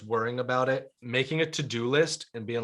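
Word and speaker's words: Teux Deux: shout out apps yeah there's an app called to do but it's spelled all french it's like t-e-u-x-d-e-u-x that's easy to find for people yeah and yeah to do but it's really good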